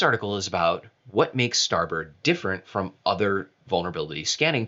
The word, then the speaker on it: starboard: from aqua we've had starboard on here before and liz rice was talking about starboard at starboard not starboard starboard it's one of those nautical terms that's just pronounced differently like bosun and and uh foxel that